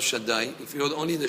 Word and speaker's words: Shaddai: But if he wrote from the word of Hashem, the name of Hashem, Shin Dalet Yud, we pronounce Shaddai, if he wrote only the Shin and the